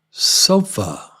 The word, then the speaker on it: sofa: about about about ah here it is on the end of a word sofa uh sofa sofa sofa sofa sofa uh sofa